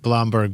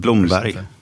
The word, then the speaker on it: Blomberg: Actually, kind of reads to me like Blamberg, but but you said you pronounce it more like Bloomberg. Bloomberry in Swedish.